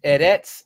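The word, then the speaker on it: ארץ: You'll see it in English, Hebrew, pronounced as eretz, eretz. Well, that's the word for world or earth. So aratz, it says Genesis chapter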